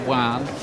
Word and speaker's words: Joan: It looks like Joan Guzman when you look at the name on paper, but it's pronounced Juan.